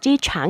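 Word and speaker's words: 机场: เก่ง ฉัน 醫院沒有醫院沒有 ยี่หย จีฉาง เหยื่อน โรง พยาบาล ไม่ ไกล เท่า สนาม บิน คำ ว่า อี้ เยี่ยน แปล ว่า โรง พยาบาล คำ ว่า จี้ฉ่าง ใน ประโยค นี้ ออก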